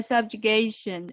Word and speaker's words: subjugation: Yeah, subjugation. SUB. Here, J. Okay. J. And Yes. for the later, we need to pronounce like J.